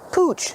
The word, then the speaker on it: pooch: And sometimes people say pooch to refer to a dog. It's just a fun word for a dog. Pooch. Pooch. Pronunciation. Use the oo sound like moon and soon.